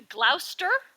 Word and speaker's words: Gloucester: The Gloucester, which I hope I'm saying it right, people. The Gloucester Sea Serpent. You are saying it right. The Gloucester Sea Serpent is interesting